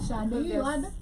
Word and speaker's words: Sade: He said Sade. You had what? Sade. Oh, me, I had Sade. Sade. That's how it's pronounced.